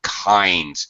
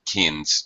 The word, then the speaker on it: kinds: And uh one other small thing uh David uh pronunciation kinds. It's a long I not kins or keen or whatever.